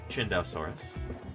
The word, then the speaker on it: Chindesaurus: about chindesaurus real quick first of all that's how you say it chindesaurus or close to that anyway um I'll show